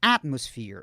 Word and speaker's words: atmosphere: E aqui é um F. Esse PH você fala com F mesmo. Não tem aquele TH da língua dos dentes, não. É um F mesmo.